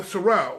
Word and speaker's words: Sorrell: Not Sorella, Sorrell.